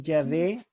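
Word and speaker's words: Yahvé: el antiguo testamento sacerdote la verdad es que ya ve es la mejor pronunciación del nombre divino el está el estado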